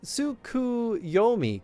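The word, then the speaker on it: Tsukuyomi: It is pronounced Suki Sukuyomi.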